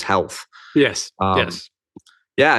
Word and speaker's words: HLTH: the conference that's right conference hlth that the insiders say pronounce as health yes yes yeah it's